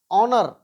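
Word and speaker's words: honour: क्या पढ़ते हैं अवर अवर यानी यहां ह साइलेंट है आवर्त ओनर यानी एस के एस के ठीक बाद अगर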